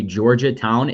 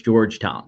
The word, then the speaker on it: Georgetown: I say Georgia Town. It's Georgetown.